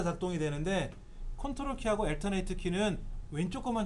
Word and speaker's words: CTRL: 컨트롤 키를 누르실 때 컨트롤 키가 두 개죠. 왼쪽과 오른쪽에 각각 하나씩 있죠. CTRL이라고 적혀있는 키를 우리는 컨트롤이라고 읽어요.